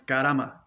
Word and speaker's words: karma: I was fortunate enough to have an Indian gentleman teach me how to say it. He just be back and forth about 100 times. Karama, karama, karama. It's not even karama, it's karama. So then you get it out right.